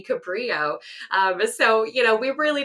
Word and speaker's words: Cabrillo: evidence was found that juan was actually born in spain which means that the pronunciation would be cabrio so you know we